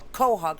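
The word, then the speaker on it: quahog: crab um qu Hogs do you pronounce it quw I say cwk kohawk sorry you can switch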